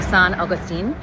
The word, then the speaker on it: St. Augustine: Augustine um is pronounced after the Spanish um uh pronunciation of it. So, San Augustine and uh but when we refer to the St.